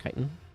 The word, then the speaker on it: chitin: gotten so much chitin from I think it's pronounced chitin from all of these devours but somewhere over